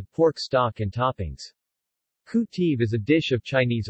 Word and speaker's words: kuy teav: In Khmer, khu teav is properly pronounced IPA, KUJTI, but is often elided to IPA, KTI, romanized as K. Tiu, KTU, KTIV, etc., due to the sesquisyllabic nature of the Khmer language.